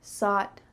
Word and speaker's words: thought: second one thought but does this word start with an S nope instead it starts with the th so you need to make sure that your tongue is between your teeth and there's that stream of air coming through through we already talked